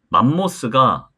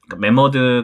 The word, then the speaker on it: 매머드: 제가 검색을 좀 해봤는데 맘모스가 옛날 일본식 발음이라고 하더라고요 머스 일본식 발음이고 메머드 카페는 그래서 전가가 제 모델로 있었을 때도 만모스 아니다 메머드 홍보 문구였어요 그래서 머스 아니고 메드라 발음하시면 된다 어제 라떼 손님이 몰려서